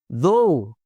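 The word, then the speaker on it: though: दो, अगरचे, दो, लाइक ओ इन गो, जैसे गो में आपकी आवाज़ आती है, थॉट। जी, तो ये है दो, अगरचे, इसको ऐसे ही बोलें लाइक ओ इन गो, जिस तरह गो में ओ की आवाज़ आ रही है, गो, इस तरह बोलते हैं दो।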